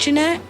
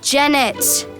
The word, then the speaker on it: Janette: mine can you paint Janette of course I can paint and it's jenet oh yeah I keep